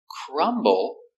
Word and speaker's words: crumble: Crumble is a verb. When you break into pieces, when you make the crumbs, you crumble the cookie. Or you can say the cookie crumbles. We pronounce the B. Crumble.